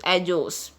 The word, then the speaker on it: ellos: Our next sentence is ellos. Guys, double L is pronounced as J in Spanish, so it is pronounced as ellos.